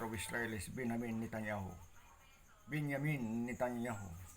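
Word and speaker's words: בנימין: Israel is Benin netanyahu benyamin netanyahu the proper pronunciation benyamin which mean the son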